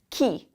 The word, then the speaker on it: chi: So more things, words and phrases that begin with C here is not chi, because the CH sounds like a k. This is chi.